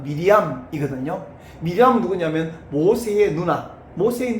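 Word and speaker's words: מרים: 근데 마리아라는 이름은 헬라식 발음인데 원래 히브리식 발음은 미리암이거든요.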